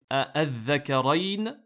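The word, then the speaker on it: ءَآلذَّكَرَيْنِ: Al-Dhakarayn, dans lequel on peut prononcer soit avec ce qu'on appelle l'ibdal, la hamza a été transformée en alif, donc une prolongation, et lorsque c'est suivi d'une soukoun, donc c'est al-mad, al-lazim, al-kalimi ici, al-muthaqqal, puisqu'il y a une shadda.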